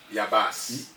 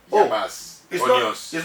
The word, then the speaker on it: Yabasi: Yabas. Yabas. It's not Yabasi. Yeah, the I is silent.